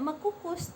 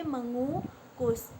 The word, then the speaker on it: mengukus: dengan kata dasar kukus ini dibaca tidak mengkukus tapi mengukus itu namanya luruk atau berbaur makanya dibacanya mengukus Kemudian yang kedua penggunaan kata